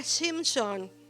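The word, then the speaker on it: שמשון: Su nombre en hebreo, les digo esto porque buscando algo me apareció y dije, de ponerlo. Se pronuncia Shimshon, así que no es chino, es hebreo, Shimshon.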